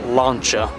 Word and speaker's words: Lancia: or should say, correct name, correct way to pronounce it, launcher.